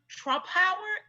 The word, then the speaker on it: Trumpauer: of the infamous Joan Trumpauer. Did I say her name right? You did.